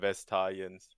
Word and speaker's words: Vastayans: Haben wir den da richtig ausgesprochen im Stream? Vestaliens.